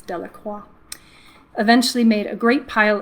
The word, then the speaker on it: Delacroix: Jones and Dickie Delacroix the villagers pronounced his name Delacroix which I just did I guess it's dellacroix eventually made a great